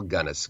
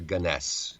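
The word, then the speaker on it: Gunness: One of my favorite uh was a woman named Belle Gunnness. Gunnness or or Ganess uh pronunciations vary on this.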